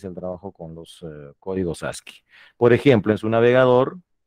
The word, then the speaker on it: ASCII: Bueno, se pronuncia ASCII, ¿no? Se escribe así. Las dos últimas verticales no son L, son I mayúsculas, ¿ya?